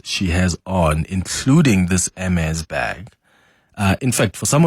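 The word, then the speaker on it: Hermès: Helen Zille sparked some controversy by labeling the Hermes backing bags ugly, insane, and obscene. And I hope I'm pronouncing Hermes backing correct, because initially I thought, is it Hermes? Is it Hermes? But I'm told it's Hermes.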